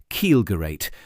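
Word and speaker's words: Kielgerät: These specialists had worked on Luftwaffe infrared programs under designations like Kielgerat, pronounced Kielgerate with a hard G.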